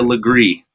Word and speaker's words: Legare: Julia Legree. It's spelled Julia LEGARE. It's spelled like Lagar.